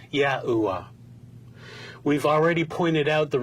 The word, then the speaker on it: YAHUAH: There are a few variations within this medieval time period, but the consensus suggests God's sacred name was pronounced as YAHUAH.